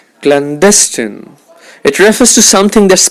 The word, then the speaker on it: clandestine: one of his students clandestine the stress is on the second syllable alacrity the stress is